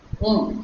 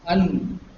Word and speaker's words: un: Now, remember this un is pronounced as un. It's only nasal n and not un.